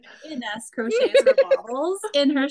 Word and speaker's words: Ines: or I would have to say, I'm sorry, you'll have to correct my pronunciation for your name, Ines. How do you say your name? Ines. Ines.